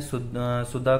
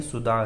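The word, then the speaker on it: सुदा: पिछले वीडियो में मैंने सुद्धा को सुद्धा बोल दिया था कई जगह, तो वो सुद्धा नहीं है, सुधा है। ठीक है, वो इसलिए थोड़ा प्रोनाउंसिएशन में गड़बड़ हो जाता है, याद नहीं रहता है, तो इसलिए वो कर दिया था। तो सुद्धा बोलते हैं ऑब्स्ट्रक्शन को, और सुधा बोलते हैं हेडेक को।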